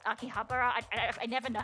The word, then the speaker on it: Akihabara: Oh yeah, this basically is Akibahara. Yeah, cuz it's Akihabara. I I never know how to pronounce it cuz it's the electric corner.